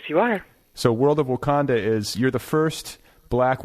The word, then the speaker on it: Wakanda: women we have world of wakanda am I pronouncing that right yes you are so world of wakanda is you're the first black woman to write